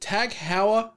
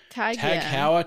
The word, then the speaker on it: TAG Heuer: Tag Heuer, I think that's how I've always called it, like Tag, like the high-end watches you see typically attached to Formula One race car drivers and celebrities. Tag Heuer, Tag Heuer, I don't know.